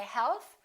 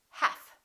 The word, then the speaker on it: half: would should silent L half we don't say health we say half silent T the silent